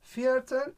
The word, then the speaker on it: Viertel: Okunuşu for. Biliyorsun Almanca'da İşte V'leri nah F geçti.